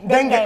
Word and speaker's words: dengue: Dengue.